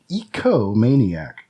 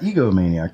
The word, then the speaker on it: ecomaniac: It is ecomaniac. Not egomaniac, but ecomaniac.